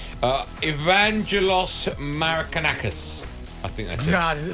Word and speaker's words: Marinakis: I going to say his name uh evangelos marakas I think that's it sound like that marinakis marinakis storm the pitch confronted referee Paul Tini